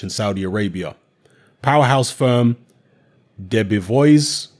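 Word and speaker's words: Debevoise: Saudi Arabia powerhouse firm Debbie voice is how you pronounce it Debbie boys and plimpton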